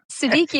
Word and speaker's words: Siddiqi: I'm pronouncing this right, Siddiqi. Yes. Siddiqi, it rhymes with cheeky or freaky, depending on the day and the situation.